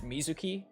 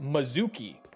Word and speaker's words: Mizuki: It's Mizuki, but a lot of them say like Mizuki.